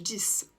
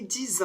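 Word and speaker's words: dix: le 6 c'est-à-dire que quand il est isolé on va prononcer le X comme un S exemple ouvrez votre livre à la page 10 si par contre il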